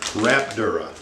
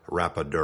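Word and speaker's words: rapadura: damira or Coronado or rap Dura let me just pause right here for a moment to pronounce these three types of sugars correctly it's turbinado Demerara or rapadur either either those those are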